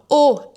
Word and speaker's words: aux: 3è préposition, la préposition O, même prononciation que le Au O et qui se prononce exactement comme la lettre O.